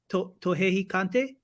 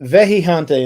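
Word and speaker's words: Vejigante: Tohejicante? Nope, Vejijante, and it's spelled Vejijante.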